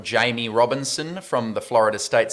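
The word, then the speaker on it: Jammie: very quickly my sleeper is a guy called Jamie Robinson from the Florida State Seminoles spelled Jammy with a double M but pronounced Jamie and again I was thinking if you're looking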